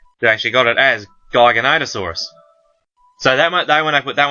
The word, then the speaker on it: Giganotosaurus: Giganotosaurus is all that's how I've always heard it pronounced.